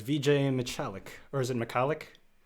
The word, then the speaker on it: Michalik: my guest is vijay michalik or is it mccallick mcallick is the pronunciation that i generally use but it is